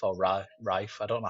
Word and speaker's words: Ralph: We've got is it Ralph or Rafe? I don't know how he likes to pronounce his name.